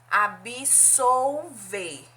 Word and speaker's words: absolver: ela falou absorver agora a outra palavra paronima de absorver é ab-soul ver veja que a pronúncia diferente absorver eu tenho aspirou absolver veja aqui a pronúncia é diferente absolver quer dizer perdoar